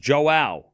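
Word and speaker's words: João: It's pronounced Joao. Brazilians, where you at? No, there's a few people here. Almost sounds like Joel.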